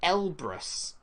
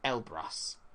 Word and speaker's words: Elbrus: highest mountain in Europe it's Mount Elbrus though that might be pronounced a you never know ELB are us I call it el brass Mount Elbrus question number 8 itty